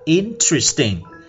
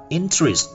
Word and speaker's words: interesting: Mà chúng ta phải nói là interesting. Chúng ta bỏ cái âm tơ đi, âm ơ đi, là không đọc là âm inter nữa mà chúng ta đọc là interest, nó mất đi.